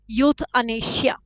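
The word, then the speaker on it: euthanasia: इ क्या हुआ भाई यूथ ई जो है साइलेंट हो जाएगा यथ इंपोर्टेंट है अगेन यूनिक वर्ड है इस तरह के वर्ड जो है अनीशिया आ सकता है तो यूथ अनीशिया अगेन रूट वर्ड आ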